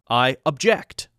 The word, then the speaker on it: object: remember same rules apply two syllable word object we put object object the verb form because it's used as a verb putting the stress in the second syllable I object I object instead of object which would be the noun form or sometimes the adjective form your honor you Doctor